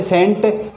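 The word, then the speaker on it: scent: के बाद अगर सी आता है तो वह साइलेंट हो जाता है जैसे सेंट सेंट यानी परफ्यूम इसको परफ्यूम भी बोलते हैं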